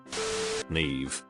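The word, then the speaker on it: Niamh: always makes me think of those little oranges Neeve an Irish name for Girls It's pronounced NE and their there are several variations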